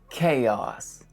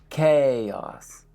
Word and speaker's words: chaos: Number 6, chaos. Pay attention to the stress on that first syllable. Chaos. Chaos. Think of it like K-A-Y-A-H-S. Chaos.